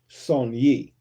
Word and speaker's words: Saunier: The name Saunier is pronounced Saunier. with the emphasis on the first syllable.